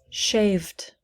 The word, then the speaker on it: shaved: d sounds like d let's look at shave how many syllables in shave one shave shave when we change it to past tense how many syllables listen to me shaved shaved shaved it's one syllable shaved there are no extra vowels or syllables added so please repeat after